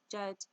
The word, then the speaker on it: djed: Flanking this symbol are two tet stabilizer pillars, also called djed, pronounced jed, pillars.